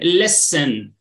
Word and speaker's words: listen: music listen very good there is one silent letter yes it's very good yeah we say listening listen listen we don't pronounce no we say Len listening okay climbing climing